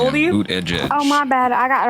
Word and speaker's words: Buttigieg: I had to train myself to pronounce it right. Hi, how old are you? Buttigieg.